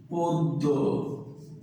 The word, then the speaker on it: পদ্য: তাহলে এটার উচ্চারণ কিন্তু দেখো বয়স শুরুতে আছে অ, আর এরপরে জফলা, এই জন্য কিন্তু এটার উচ্চারণ ওকারান্ত হয়ে যাবে। এটার উচ্চারণ কিন্তু এরকম পদ্য।